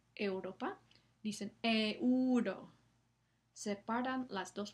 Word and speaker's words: euro: Esto no es como se pronuncia la palabra, es un diptongo. Entonces, la e y la semivocal u están juntas en la misma sílaba y la u es tiene una duración muy corta, euro, ¿no?